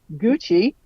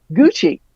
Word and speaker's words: Gucci: But anyway, Gucci, the correct pronunciation, it says, is Gucci, not Gucci.